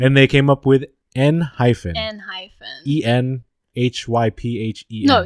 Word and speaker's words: Enhypen: island yeah island and they came up with n hyphens and hyphens e-n-h-y-p-h-e no not even an h-p-e-n in high-pen oh hi yeah right i know it just